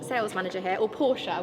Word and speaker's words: Porsche: sales manager here, or Porsche. We were just having a debate on how you say it. We're both Porsche, but apparently we're meant to say Porsche, so maybe we should say Porsche.